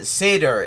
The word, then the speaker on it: Seder: Seder. I mean he he pronounces it cedar but in Hebrew and Yiddish uh sedar s e d e r refers literally to